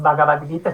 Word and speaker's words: Bhagavad Gita: en la materia, pero sí que intento hacer las aspiradas, porque por ejemplo no es Bhagavad Gita, no es Bha, Bha.